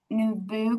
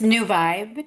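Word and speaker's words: NuVibe: She is the founder of Nubu Consulting. Can you correct me if I'm wrong, if I mispronounced that? Yes, it's New Vibe, New New Vibe Vibe, sorry.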